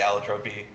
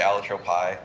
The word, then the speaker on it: Allotropy: So I say Allotropy. Some people do say Allotrope. This was complicated recently when we learned that the actual pronunciation of that scientific term is Allotropy, which really threw me for a loop. So I continue to say Allotropy for no good reason, just what I started saying.